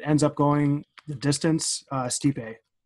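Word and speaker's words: Stipe: how you say his name steeped a Miocic steep a okay steep a versus Francis and the up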